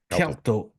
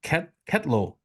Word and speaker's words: Ketlo: How do you say his last name? Kelto. Ketlo. I said Kelto, sorry. It's Kelto. Ketlo. Oh, Ketlo. Ketlo. Kelto. Let's go and Kelto.